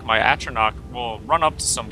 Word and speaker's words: Atronach: There isn't another R, so I don't know why I say that. I always say astronach, which I don't know.